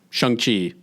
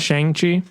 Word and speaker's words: Shang-Chi: Shang-Chi is the latest. It's actually pronounced Shang-Chi. Shang. It's Shang-Chi.